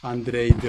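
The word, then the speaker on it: Andrade: 그리고 이제 3위는 말루 가르시아 안드레이드 혹은 영어 발음인데요. 사실은 이제 스페인어니까 안드라데라고 할 수 있을 것 같습니다.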